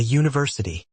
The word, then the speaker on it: university: Examples: a university, a European country, a useful idea. Although these words begin with vowels in writing, they begin with the consonant sound U in speech.